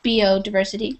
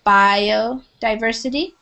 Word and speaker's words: biodiversity: British say it but we say bio with a with a long ey sound biod diversity not not biodiversity it's biodiversity and this is um